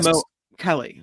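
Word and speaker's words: Mo'Kelly: But there is no pronunciation for the apostrophe because in Hawaiian that would be a stop like Mo Kelly.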